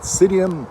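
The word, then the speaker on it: Psidium: Do you know about Psydium guayahava? That is Psydium with a capital P. It is P-S-I-D-I-U-M. I believe the P is silent. I'm not sure why they put it there.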